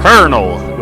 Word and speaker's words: colonel: hear you all right he's the colonel or colel is the proper pronunciation of that word somehow that's the proper